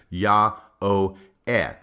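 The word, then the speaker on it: Jah-oh-eh: called by the Egyptians Yah-Oh-Eh. And I'm pronouncing the J as a Y.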